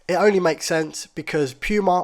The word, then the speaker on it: Puma: only makes sense because Puma also rhymes with loser so if you wear